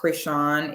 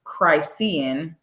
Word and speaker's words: Chrisean: ma'am it's Christian okay even if you didn't know her name was pronounced Krishan if you understand the English language uh you would know that there is no way that this could be pronounced crisian just by the way that it's spelled so and nor the fact that you're going to be saying Christine these folks want to